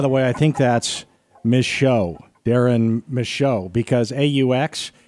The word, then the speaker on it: Michaud: So Darren Michaud, though, that is the correct pronunciation.